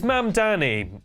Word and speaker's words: Mamdani: The name is Mamani. M A M D A N I. You should learn how to say it because this dude's the dang mayor now.